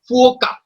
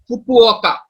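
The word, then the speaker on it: Fukuoka: अब एक और चीज है, जापान के अंदर एक एक आदमी हुआ, उनका नाम है फुओका, फुकुओका। फुकुओका बेसिकली इसकी सही प्रोनाउंसिएशन है।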